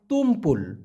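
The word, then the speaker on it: tumpul: বলা হয় ভোতা এটাকে মালয়েশিয়ান ভাষায় বলা হয় তুমপুল তুম পুল তৈরস্যু ম পয়রসু ল তুমপুল এই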